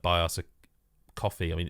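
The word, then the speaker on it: Ko-fi: like buy us a coffee. I mean it's Kofi is spelled but you know coffee and you can just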